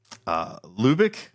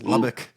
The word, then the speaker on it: Lubbock: things in Texas, which I would say I'm pronouncing them correctly. Like Pecos. That's Yeah. Pecos. Oh yeah. What is it? Lubick? That's Lubbock.